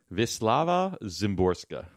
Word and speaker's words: Wisława Szymborska: is, I'm going to pronounce it incorrectly, but Wisławow? Wait, what is it? I'm going to find it here. Hang on a second. I have to have a Google. Wisława Szymborska.